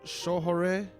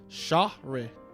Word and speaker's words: Shohreh: Shohore. Shahre. Agadoshi. I can't pronounce that. It's Shohreh.